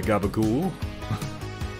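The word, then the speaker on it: capicola: recently that that is it's just a funny pronunciation for what appears to when written be pronounced as capiccola but then i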